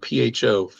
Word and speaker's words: pho: Yeah, I was always told it's pronounced pho. What is? Where there's the PHO. Some folks would call them faux restaurants, but it's actually pronounced pho. F-U. Faux I didn't know that.